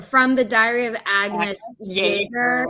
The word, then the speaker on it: Jaeger: From the Diary of Agnes Jaeger, even though it is with the J, it's the German pronunciation.